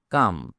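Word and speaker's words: calm: কাম সি এ এল এম এখানেও এল কে উচ্চারণ করা হয় না।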